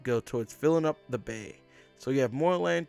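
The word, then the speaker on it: 米: like the the grain sticking up here uh pronounced Bay not to be confused with a rice Patty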